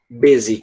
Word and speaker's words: busy: Um exemplo é a palavra busy, que eu vou colocar aqui, que quer dizer ocupado ou congestionado. Pronto. Busy. Tem o U, mas a pronúncia é de E.